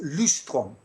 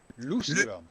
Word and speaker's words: Løvstrøm: Tell me how you pronounce your name properly, just so I don't get My it name wrong. is Løvstrøm. Løvstrøm.